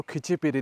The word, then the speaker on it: Khecheopalri: तो वेदर कुछ ऐसा है, और मैंने पूछा कि इसको क्या बोलते हैं, क्योंकि मैं लोकल जो इनका बोलने का तरीका है उस तरीके से लेक का नाम प्रोनाउंस नहीं कर पा रहा था। तो यहाँ पे बताया कि इसको खिचीपीरी लेक बोलते हैं।